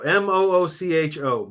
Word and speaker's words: Mucho: And it's spelled like Mucho. Moocho.